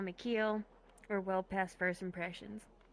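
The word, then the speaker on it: Qi: and I lost her call me ke fisher woman ke you know that make sense SP as though the part of a boat way she was embracing you you know pronounced that way spelled q i it's supposed to mean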